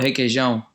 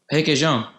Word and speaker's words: Requeijão: What's the cream cheese called? Requeijão. Spell it. Requeijão. Yeah.